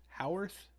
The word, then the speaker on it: Howarth: Well, the music is by Carpenter and Alan Howarth.